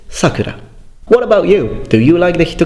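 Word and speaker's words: 桜: The name is Sakura, and it's pronounced Sakura. So not Sakura, for example.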